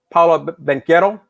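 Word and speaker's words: Banchero: ruin the chances for paula benketto that's how they pronounce it and they during the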